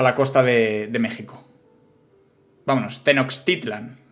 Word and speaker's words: Tenochtitlan: ahí las palabras tío se pronuncia la che como es como es Tenochtitlán o sea como una no llega a ser una x como una sh no como Tenochtitlan vale Tenochtitlan Ok pues chicos